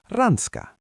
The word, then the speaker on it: Ranska: And France is rans.